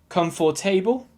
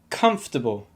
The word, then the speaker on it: comfortable: you pronounce this adjective come for table if you do it's wrong and the reason is you're giving the same amount of stress to each syllable if you want to say it correctly you need to give the stress to the first syllable and nothing or very little to the second syllable for example comfortable comfortable